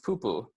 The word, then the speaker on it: pupu: So pupu, easy enough to pronounce. It's just pu-pu, very repetitive. So once more, if you guys want to repeat it back with me, that's pu-pu. And then put it together, you get pupu.